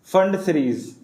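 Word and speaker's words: Pfund: Number 5 है पी फंड, जिसको आप बोलते हो, इसको फंड बोलते हैं बेसिकली, फंड सीरीज, ठीक है, this is called फंड सीरीज।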